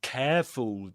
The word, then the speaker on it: careful: The first part in careful, the first syllable rhymes with pair, for example, words like pair or even um of course care and other words like there.